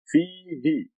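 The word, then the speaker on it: فيه: Fihi. See the letter fa with a kasra, fi. And then the ya after the fa makes it a long fihi.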